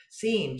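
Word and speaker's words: SIEM: correct and say no people pronounce that seem so it's a c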